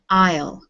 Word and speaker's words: aisle: this word i'll an isle we don't pronounce the s in this word okay this is yes